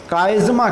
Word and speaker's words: chiasma: उस मुकाम को हम काइज़मा कहते हैं। ये स्पेलिंग यहाँ पर गलत लिखा हुआ है, काइज़मेटा नहीं होता है, काइज़मा होता है, CHIASMA, काइज़मा।